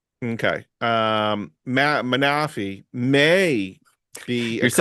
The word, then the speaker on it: Manaphy: I would say the right way to say it. Not manafi. No, it's manaf.